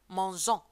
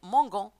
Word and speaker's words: mangeant: En ce qui concerne les verbes en GER, bien sûr, vous devez ajouter E ici. Mangeant. Si vous n'ajoutez pas E, vous la prononcez mangon.